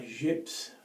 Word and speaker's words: Gips: I know my Gips, as it's pronounced in France, or my Gips razor, is an adjustable, and it was first produced in 1937.